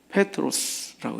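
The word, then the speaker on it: Πέτρος: 그래서 원래 원명은 페트로스라고 이제 이게 정확한 발음입니다.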